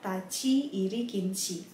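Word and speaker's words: 立入禁止: Yang pertama kita harus memperhatikan cara baca yang ada di dalam kurung yang tertulis dalam hiragana. Di situ ada tachi iri kinshi.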